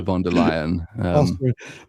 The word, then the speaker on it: von der Leyen: It's a surname appropriately rhymes with liar, so it's still a von der Leyen.